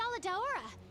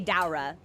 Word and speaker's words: Kushala Daora: I actually said it right! There was a hot second where I was positive the game was gonna say Daura.